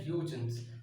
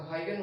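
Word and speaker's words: Huygens: that instead of hydrogens hydrogens i have said eugene's so that is a wrong pronunciation for the name the formula for centripetal force was given by high guns okay so hygiene was the name not huge okay so so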